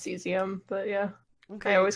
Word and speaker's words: cesium: kes iam and selenium right now it's actually pronounced cesium yeah okay always called HS you do call